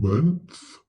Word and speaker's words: month: So TH in month is pronounced th, and TH in mother is pronounced v. It is voiced.